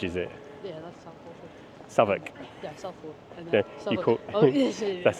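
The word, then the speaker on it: Southwark: Savoc. Yeah, South. That's how it's pronounced. Savoc.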